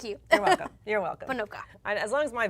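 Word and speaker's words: Ponoka: towards the Red Deer parts on the Pocono. I can't say that quickly. I'm getting slurred here. Panoka. Thank you. You're welcome. You're welcome. Panoka.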